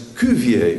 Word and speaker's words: Cuvier: is a French biologist whose name is George Cuvier Jones is the French for George except they put an S at the end or that they don't pronounce and then his name is Cuvier which is CUV ie arm this man is